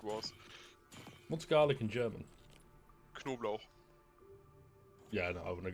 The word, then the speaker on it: Knoblauch: The funny thing is, actually, the first part of the word is spelled like knob. Hey. It's literally just knob and then you add lauch.